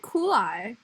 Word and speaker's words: Cooley: it's cool but but they said it coolly on on the on the broadcast rhymes with ghoulie cooley as in rhymes with ghoulies like um i don't